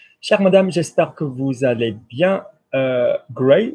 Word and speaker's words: j'espère: So notice that when you say, you go, j'espère, it kind of goes longer.